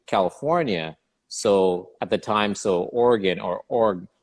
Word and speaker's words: Oregon: the time, Oregon or Oregon. That's how I pronounce Oregon because that's the way it's spelt. So I said that when I was in California, and my teammates laughed Oregon, it's actually Oregon.